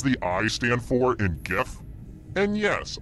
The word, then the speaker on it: GIF: I stand for in gif and yes I pronounce it with the G sound not the J tarts